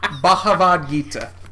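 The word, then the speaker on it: Bhagavad Gita: can't say it now that you say it bahav Gita bav it's the bahav Gita bahav Gita okay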